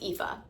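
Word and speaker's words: Aoife: that would be like aopa aopi but it's pronounced epha and I'm so thankful that the name pronunciations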